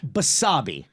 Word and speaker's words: Basabe: Basabe, like wasabi, but with a B.